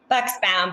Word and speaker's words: Buxbaum: Am I pronouncing your last name, correctly? Buxbaum, but that's perfect.